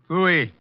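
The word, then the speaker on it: pfui: you down here for a little questioning wolf FY what that FY it can be spared in several ways I spell it PF UI Foy you think I won't bring you down here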